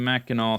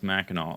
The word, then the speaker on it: Mackinac: mack and nack Island Mackinaw City both pronounce Mackinac oh really okay and